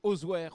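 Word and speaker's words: Auzouer: maire d'osoir en Touren même si ça s'écrit osoire on dit osoir et on dit osoir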